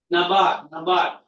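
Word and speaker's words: NABARD: How do you pronounce this word? Nabar.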